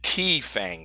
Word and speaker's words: TFANG: it's almost the that the tea Fang stocks but the T is silent and we're gonna talk